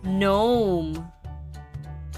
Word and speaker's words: gnome: and read with me repeat after me gnome g n o m e let's spell that again g n o m e gnome